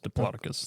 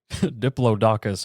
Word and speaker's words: Diplodocus: Yes. Diploticus. That's at least the most common pronunciation I've heard. Diplodakus I can credit my third grade school teacher for.